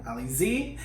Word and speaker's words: Alizée: Alizée.